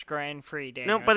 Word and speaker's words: Grand Prix: It is spelled with an X, but the X is silent.